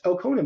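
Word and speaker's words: Elkonin: it it's e l k n i n pronounced elonen by the way most people don't know how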